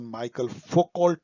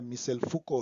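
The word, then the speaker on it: Michel Foucault: In which book did फूको, again फूको आते हैं, मिशेल फूको Frenchman थे इसलिए इनका प्रोनाउंसिएशन माइकल फोकोल्ट नहीं है, मिशेल फूको है।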